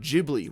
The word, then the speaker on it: Ghibli: couple videos on Princess Mononoke my favorite Studio Ghibli movie of all time one of the biggest